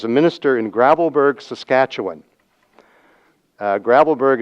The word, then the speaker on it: Gravelbourg: Gravelbourg is actually not the way you should pronounce it. You should pronounce it Gravelbourg, okay? Comme les Français. But the English people say Gravelbourg, okay?